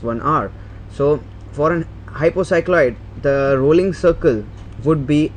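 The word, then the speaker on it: hypocycloid: is known as an happy sorry not happy hypo cycloid that is the correct pronunciation to do go for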